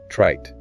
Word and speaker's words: trite: Trite. Trite. TRITE. Yes, this was a great example. The vowel sound in trite is shorter than in tried.